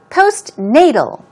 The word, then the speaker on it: postnatal: the contrast or alternative post Nadal stress goes right there post as you see this